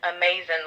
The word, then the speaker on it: Auhmazn: And after I had the sixth child, her name is Amazing, I needed, the only thing that was going to save me was some amazing love. And her name is spelled Auhmazn, and then her middle name is.